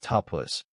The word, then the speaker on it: tapas: pronounced tapus which means sincere effort with inner warmth and commitment.